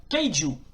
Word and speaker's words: kaiju: Alors, kaiju, alors, du kunrei qui se prononce kaiju, littéralement bête étrange ou bête mystérieuse.